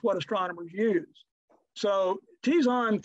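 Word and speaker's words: Terzan: Tirzan, actually Tizan 3 is how you pronounce that.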